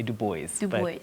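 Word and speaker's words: Du Bois: w.e.b dubois um and the americans say do boys yes but so do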